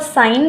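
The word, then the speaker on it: sine: Starting में 50% बच्चा सिन बोलता है, इसको साइन नहीं बोलता है, क्योंकि इंग्लिश में हम ये वर्ड यूज़ करते हैं सिन, तो वो उनको वो उससे यूज टू हैं तो उसको सिन ही प्रोनाउंस करते हैं। लेकिन यहाँ पे हम इसको साइन बोलेंगे, क्योंकि सिन का मतलब तो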